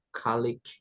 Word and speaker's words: colleague: Kalau yang atas ini kolega itu bacanya kalik ya.